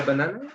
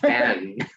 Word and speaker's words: banane: Il déteste la banane? Déteste. Déteste le banane. Banane. This is not Ban. Banan. two syllables.